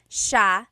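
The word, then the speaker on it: siya: note about pronunciation is it's Sha Sha the SI i y combination makes the Sha sound in theog some regions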